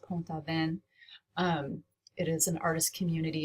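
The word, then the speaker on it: Pont-Aven: hangs inside a church in Ponte bond which is the I think it's pronounced poem thaw pen it is an artist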